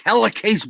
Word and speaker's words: helicase: It's helicase, bro.